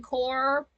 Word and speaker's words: corps: Or like Marine Corps, it's CORPS. Why use the extra letters? Just COR. You've got it there. You're done at COR.